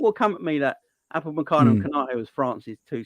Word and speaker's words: Upamecano: Upamecano.